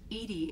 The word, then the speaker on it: EDI: why are you named edie edie is the phonetic pronunciation of edi that is an acronym for enhanced defense intelligence it's such a interesting design for edie it's not really anything